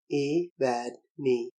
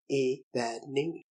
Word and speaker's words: Evadne: word in my heart, a word of just 3 syllables, the accent being on the penultimate Evadne. Evadne.